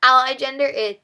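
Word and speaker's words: aliagender: I think this is pronounced ally gender, but it's someone who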